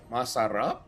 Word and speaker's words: Masar: By the way, I think you need to say his name correctly. It's more like Masar.